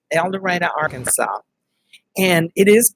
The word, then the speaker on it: El Dorado: the little town where the book is said el dorado arkansas and it is pronounced that way even though most people would say el dorado but we're southern and you know we're stubborn